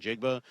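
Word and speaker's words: Njigba: And we're going to hear a little bit about Jackson Smith and Jigba. And yes, that's how you pronounce his name.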